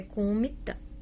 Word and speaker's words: Kuomintang: Não se pronuncia o G, falei Kuomintang porque a escrita dele é Kuomintang, mas é Kuomintang, tá?